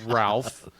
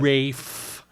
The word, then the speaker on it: Ralph: think it's pronounced Rafe Fiennes. Rafe Fiennes. Yeah, Come well, on, get it right. Okay, well, it's spelled Ralph. Casual. So I'm gonna say Ralph, and he can suck it.